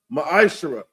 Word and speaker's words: ma'ashara: Means 10th in the Hebrew is pronounced ma'ashara.